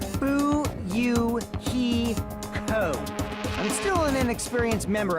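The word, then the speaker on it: Fuyuhiko: My first name is pronounced buyou he co.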